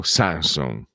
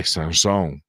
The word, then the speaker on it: Sanson: della lingua Veneta è Sanson no Sanson Sanson Teofilo Sanson Pellegrin non Pellegrin Perin non Perin perché a sud tendono ad anticipare l'accento e noi invece siamo più sdruccioli al al nord e pensate che lui